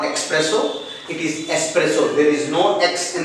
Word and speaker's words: espresso: a dark black coffee and it is commonly mispronounced death expresso not expresso it is espresso there is no text in this world here